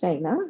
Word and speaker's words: Shana: start by saying that my name is pronounced shayna just for you for y'all to know s-h-a like it's s-h-a-n-a but it say it like what has a y on it so yeah shayna so thank you for